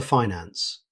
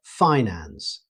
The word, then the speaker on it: finance: Moving on to finance, in American English, you'll most commonly hear finance with the stress on the first syllable.